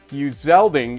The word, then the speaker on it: Uzelding: Shane Crandall, a 17-yard touchdown pass from Nathan Uzelding is how I was told I need to pronounce this name from now on.